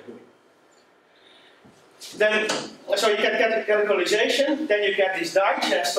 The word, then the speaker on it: canonicalization: The first step is canonicization. Canonicization, C14N, is usually used for it because it's such a difficult name to pronounce. So C14N means C and then 14 characters and then an N. But it's canonicalization.